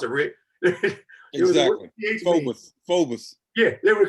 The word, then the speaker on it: Phoebus: So I just saw this boy from they wouldn't even know how to pronounce it, Rick. Exactly. Phoebus. Yeah, they would call it Phoebus.